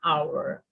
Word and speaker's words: hour: In number 9, spelling has an H at the start, but that H is silent.